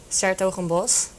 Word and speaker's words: 's-Hertogenbosch: It's 's-Hertogenbosch. Okay. That's how you pronounce it, but Okay.